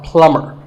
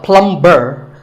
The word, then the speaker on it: plumber: pipes at your house you call him a plumber not a plum burr the bee is silent so plumber in fact in many